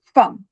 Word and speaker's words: femme: Par exemple, dans le mot femme, on entend pas exactement ce qu'on voit. On en voit femme mais on prononce femme.